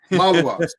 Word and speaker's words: Maluach: Everybody knows it's Cooper Flagg, it's Common Malauch. Sorry if I'm pronouncing that name wrong. Malauch. Maluach. It's Flagg and Maluach.